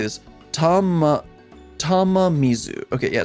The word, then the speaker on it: Tamamizu: Tamamizu. Okay, yeah, it's Tamamizu, of course, because Mizu's water.